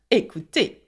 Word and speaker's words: écouté: And so there you have the past participle of écouter, okay, which by the way is the same sound, écouter.